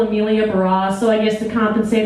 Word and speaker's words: Emilia Barrosse: always hurt you know my name is pretty simple sounds pretty simple amelia bros so i guess to